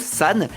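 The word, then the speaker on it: 三: numéro 39 parce que en japonais 3 ça se prononce san, 9 ça se prononce que et donc 3 9 ça se prononce sanq. Thank you en anglais.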